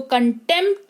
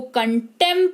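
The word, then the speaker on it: contempt: अगर किसी शब्द में पी हो और उसके तुरंत बाद टी हो तो पी साइलेंट हो जाता है। जैसे इसको कंटेंप्ट नहीं इसको कंटेंट पढ़ते हैं।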